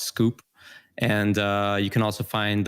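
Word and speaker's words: skwp: on twitter my handle is sk WP it's pronounced scoop and you can also find the book inventing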